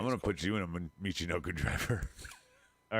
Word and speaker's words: Michinoku: Taka Michinoku.